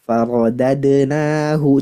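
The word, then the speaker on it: فرددناه: Tadi kurang terdengar. Malah terdengar tebal. Farodadnahu.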